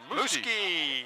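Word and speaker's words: Muzquiz: And that brings up our leadoff man, Muski. I like that name. Well, how would you spell Muski? M-U-Z-Q-U-I-Z. You wouldn't think it would be pronounced that way.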